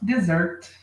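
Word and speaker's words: dessert: sobremesa É dizer Ok se você quiser a entonação mais forte na primeira sílaba Desert aí vai ficar deserto Tá bom então nós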